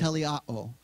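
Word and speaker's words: teleioō: that word in the Greek is the word telle Otto and I put it up there because I was gonna forget how to pronounce it it's spelled te le I oh and it's pronounced le Otto and that word perfected means accomplished finished fulfilled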